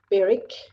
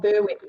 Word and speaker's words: Berwick: to an area called Beric it's not Berwick people it is spelled with the w for all the West